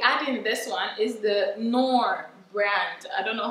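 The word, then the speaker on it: Knorr: this one is the norm brand i don't know how you pronounce it i pronounce it as nor some people say clore um so i'll be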